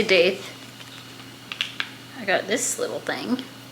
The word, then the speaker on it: daith: my new piercing and for my doth. That's apparently how you say it. I don't know how to change these though. So for my, this one, doth, I say daith.